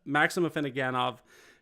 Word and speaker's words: Afinogenov: You did the French pronunciation for obvious reasons. We won't get into it, but Maxim Afinogenov is the correct response, and we'll go to the next one.